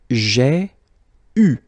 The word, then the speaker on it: eu: You write it like that, eu, but then phonetically, what you will have to pronounce is u. Okay, so you get j'ai eu.